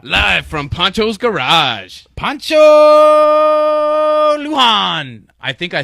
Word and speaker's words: Lujan: Poncho Lujan. I think I said it right. You probably Lujan? fucked that up. No, you don't say the J. The J is silent.